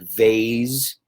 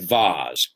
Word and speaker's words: vase: can pronounce either way like Vaes and Vaz something that you put flowers in right it's a vase or a Vaz right okay so let's